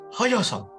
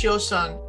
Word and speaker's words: Hyosung: You're a fan of the Nautilus Hyosung. That's how you pronounce it, but I can't do it.